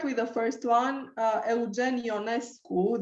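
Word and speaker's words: Eugen Ionescu: the first one uh eugenio nesco this is the pronunciation in romanian but because he lived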